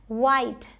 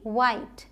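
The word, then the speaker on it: white: वाइट डब्ल्यू एच आई टी ई वाइट line time side ये जो last में इ है ये सब साइलेंट हैं। इनको हम प्रोनाउंस नहीं कर रहे हैं।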